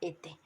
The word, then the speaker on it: étaient: Etaient, que se pronuncia ete.